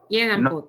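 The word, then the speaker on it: jedanput: Yedan tiene acento en la E. Se trasladó el acento a la A.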